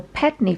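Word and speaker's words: Pedn Vounder: behind this phenomenon of Pedden Vounder and its explosion into the public eye. Pedden or Pedney Vounder, we've heard it pronounced both ways, is a cove near Porthcurno in Cornwall.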